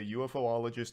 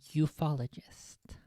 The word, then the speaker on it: ufologist: This is from an individual, Jaime Musan, who is a UFOologist and researcher, and he is presenting all of it. I believe the proper pronunciation is ufologist, not UFOologist. But I would only expect people who are actually into Alamaus to know that.